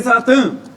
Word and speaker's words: saw: रहता है भी किसके साथ? मैं कहता हूं भी When I saw her। ठीक है भी, कई बच्चे इसको साफ बोल देते हैं, लेकिन करेक्ट प्रोनाउंसिएशन इस वर्ड की क्या भी? सो है।